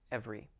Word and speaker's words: every: diphthong in the word every. Every, the R-Y sound. Now that Y in this word is pronounced as an E sound.